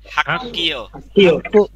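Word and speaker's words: 학교: হাক্কিয়। উচ্চারণ কি হবে?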